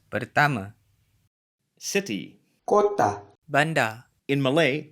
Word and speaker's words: pertama: kereta, Final a is usually pronounced as a schwa in Malay, at least in Malaysia. A couple more examples. Saya, meaning I, is pronounced, saya, and pertama, meaning first, is pronounced. pertama, City.